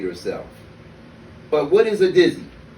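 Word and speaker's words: Didsie: dizzy a dizzy is spelt d-i-d-s-i-e but is pronounced dizzy the d.i.d stands for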